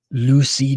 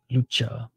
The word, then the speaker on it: Lucha: this staring contest oh Lucy didn't want to touch gloves or C sorry C didn't want to touch gloves or Lucha that's how that's how he pronounce his name my apologies Lucha all right here we